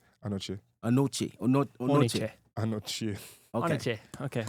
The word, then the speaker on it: Anochie: Should I try to pronounce his last name? It's Anochie. Anochie.